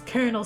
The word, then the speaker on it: Colonel: do you mean Colonel he's like it's it's Colonel Sanders you keep saying colonal sand ERS and I'm like the freaking freak